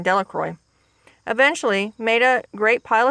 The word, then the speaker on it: Delacroix: and harry jones and dicky delacroix the villagers pronounced this name delacroix eventually made a great pile of stones in